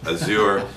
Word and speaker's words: Azure: to clear things up, we say Azure in the United States, Azure here in the UK, and you know, different sort of ways to pronounce it worldwide, which is perfectly fine. People can say it the way they want.